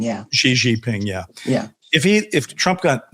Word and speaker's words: Xi Jinping: either Putin or Xi is that how you pronounce the Chinese? Xi Jinping, yeah. Xi Jinping, yeah.